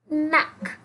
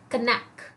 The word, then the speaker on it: knack: नैक. Don't call it कनैक. Okay, जब भी कोई लेटर के साथ एन आता है, जब भी कोई लेटर ऐसे आता है, that is actually that time we make के silent. Okay, so an acquired or